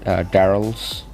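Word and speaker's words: Darryl: I think that's how you pronounce it, Daryl's. So Daryl's name is actually why they name it, because it rhymes with the barrel that he wears.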